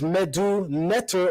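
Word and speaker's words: medu netjer: flag should be written last being that the pronunciation of the word is medu netter or medumetra so the flag should have been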